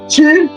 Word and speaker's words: tu: The U sound. It's in Y, like a Y format, but it's pronounced as in tu.